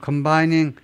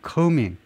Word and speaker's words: combing: From combining 아니요 combing, B를 발음하지 않죠.